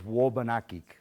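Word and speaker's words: Wôbanakik: The original pronunciation, my understanding, and George, correct me if I'm wrong, is Wobanakik.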